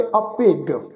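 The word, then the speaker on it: ਅਭਿਗ: असल विच शब्द आ अभिज, पर इत्थे सत्संग गुरु साहिब ने गग्गा अखर लगाया होया वा जज्जे की जगह ते, इस शब्द का उच्चारण करांगे अभिग।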